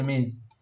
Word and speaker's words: Ms: and for all women we use ms, pronounced হচ্ছে miss.